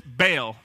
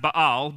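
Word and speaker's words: Baal: it if you've ever heard it before it's bail it's actually pronounced ba'al but bail this is a false god that they are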